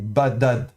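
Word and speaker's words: בָּדָד: Donc on a de nouveau le bet occlusif avec le dagesh, donc on le prononce dur, vocalisé kametz, donc ba. Ensuite le dalet qu'on prononce occlusif, qu'il soit avec dagesh ou pas, donc ba da. Et puis on termine par un dalet final, donc badad.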